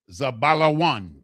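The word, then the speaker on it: זבולון: Zebulon, with the Za, the Ba, the La, the Wa, and the Na. In the Hebrew, it is properly pronounced Zabalawan.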